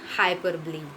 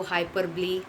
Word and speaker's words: hyperbole: Next one हाइपरबली. इसको हाइपरबली, हाइपरबोले, right, ऐसे pronounce किया जाता है.